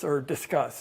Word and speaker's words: Disqus: You might have to register for Discuss. That's like the greatest mystery in the world, but there's a plugin we use to manage the comments, and it's spelled DISQUS.